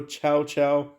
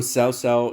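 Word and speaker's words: Cao Cao: For instance, you can't swap Dan Wei for Chow Chow. Or Sao Sao, depending on how you want to pronounce him.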